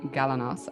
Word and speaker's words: Galanos: into him and today i'm joined by galanos i hope i'm pronouncing your last name correctly you nailed it